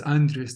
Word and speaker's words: Andres: wondrous is basically because my name is Andres that rhymes with wondrous so uh that's it